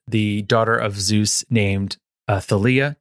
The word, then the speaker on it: Thalia: of a demigod the daughter of Zeus named Thalia Talia how would you say it how do you